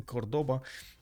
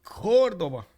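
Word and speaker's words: Córdoba: In Spanish, the accent just means you give more emphasis to that syllable.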